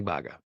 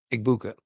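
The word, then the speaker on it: Egbuka: They draft a Mecha Eggbaga. Eggbaga and I just Eggbuka. I I always butchered that name.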